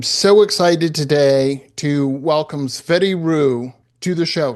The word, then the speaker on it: Tsvety: Uh so yes, as you said, and you pronounce my name perfectly.